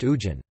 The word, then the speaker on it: hujan: Squared, the consonant Ha is sometimes not pronounced. For example, Hujan lit rain is pronounced Ujan.